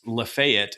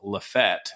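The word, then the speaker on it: LaFayette: this year when we're starting in um, Lefayet, if you're from out of town, Lef Fett, if you're a local, very big distinction, um, they are going to have their honeybee festival.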